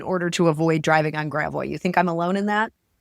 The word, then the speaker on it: Gravois: Uh, happy to talk about Gravo or as some non-native St. Louises may call it, Gravo. Gravois. I remember pronouncing it that way when I first moved here.